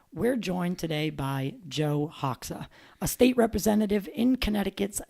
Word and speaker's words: Hoxha: Let's welcome Joe Hawka.